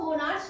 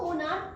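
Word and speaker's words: monarch: कुछ लोग इसको मोनार्च भी पढ़ते हैं, बट इसको मोनार्च नहीं, इसको मोनार्क का पढ़ा जाता है, मोनार्क।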